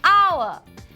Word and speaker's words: hour: Now, and we use an for words that start with a silent H. An hour, an honest man.